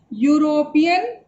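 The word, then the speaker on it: European: रही है वोवल से, लेकिन इसको हम यूरोपियन नहीं पढ़ के इसको हम यूरोपियन पढ़ेंगे। तो इसका जो उच्चारण है वो कॉन्सोनेंट की तरह हो रहा है, इसलिए यहाँ पर आर्टिकल ए लगा देंगे।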